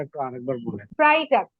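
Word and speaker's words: Freitag: ফ্রাইডে, ফ্রাইডে ma'am, ফ্রাইডেটার উচ্চারণটা একটু আরেকবার বলেন। ফ্রাইটাক, ফ্রাইটাক, ফ্রাইটাক, ফ্রাইটাক।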